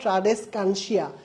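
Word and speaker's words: Tradescantia: বহুমুখী আবর্তন দেখা যায় ট্রাডেসকানসিয়া ট্রাডেসকানসিয়া ঠিক আছে নামটা মনে রাখবা উচ্চারণটা এভাবে করবা ট্রাডেস কানসিয়া ঠিক আছে তাহলে পারবা ট্রাডেসকানসিয়া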